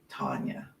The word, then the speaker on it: Tanya: A short A, Tanya.